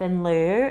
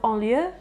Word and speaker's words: in lieu: So, I took it all off in lieu in December and I had an excellent December. But it's quite funny. You pronounce it in lieu, but um me and